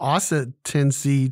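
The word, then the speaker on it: oscitancy: but there is no asset tendency today how do you say that again it is four syllables it is a noun it is spelled o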